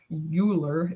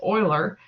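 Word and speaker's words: Euler: it's actually named after Oiler it's not pronounced oer uler it's pronounced Oiler um he was the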